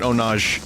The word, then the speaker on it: ownage: of just mutated into Ownage. But it's spelled O-W-N-A-J, so you could still call it Onage if you want.